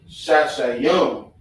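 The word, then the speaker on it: שישים: you add the yum at the end. Shashayum. You feel me? So it'll be sha, yum.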